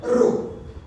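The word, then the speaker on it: ρ: इज the symbol and इट is pronounce as द रो r = रो ए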